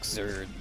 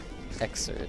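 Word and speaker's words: Xrd: The letter X, and then how you pronounce the RD in third. Okay, so Xerd.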